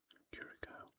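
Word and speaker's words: Curaçao: So at the moment, Ivory Coast is sitting in second spot in the group after one match, with Germany beating Curacao, that's how you pronounce it, 7-0, which is a huge score.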